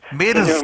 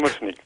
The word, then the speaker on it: Mrsnik: Señor, voy a ver si pronuncio correctamente, Señor Mirsk. Mushnik. Mirsk, ¿es correcto? Mushnik.